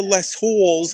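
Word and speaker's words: Les Halles: after I go to less Halls I'm gonna go see that beautiful that wonderful play less Miserables I want to wash my hair yes because ow we have the H is Silent not the owl Al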